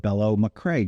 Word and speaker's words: Bello Machre: Ireland who is the president and CEO of bellow McCrae did I pronounce that correctly you did you did okay